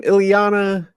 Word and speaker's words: Iyanla: Iyanla.